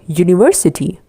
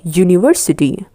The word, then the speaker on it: university: Same applies for university. A university. U here is actually the Y sound.